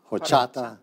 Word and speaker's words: Horchata: This is how we pronounce this. Horchata.